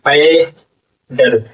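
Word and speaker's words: paddle: डी डी एल ई प डल पेडल प पर आ की मात्रा प ड पेड पेडल पेडल और ई जो है आपका साइलेंट हो जाएगा नहीं पढ़ा जाएगा लास्ट में आता है तो ठीक है पैडल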